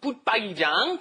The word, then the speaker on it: 붙박이장: Be careful of that pronunciation. 붙박, 박이장, 붙박이장, all together.